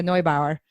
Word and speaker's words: Neubauer: your listeners are european it's actually the german pronunciation Noi Bauer some German in there